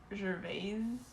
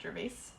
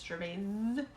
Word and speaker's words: Gervais: He was saying his name is like, I think technically it's pronounced like Gervais, and Americans pronounce it Gervais, but it's Gervais with a Z sound.